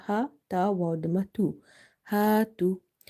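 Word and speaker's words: هَاتُوا: If you see there is a fatha before alif, and in this word tu there is a dhamma before wa sakina. So here this alif is madda, this waw is madda. Madda letters are the letters which we read by stretching them up to one alif. So you have to stretch here and here.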